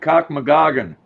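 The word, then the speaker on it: Cochnewagon: It's pronounced Lake Cockmagoggan.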